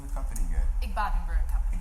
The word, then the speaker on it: Igbadun: Igbadun Brewery Company. Igbadun Brewery Yes.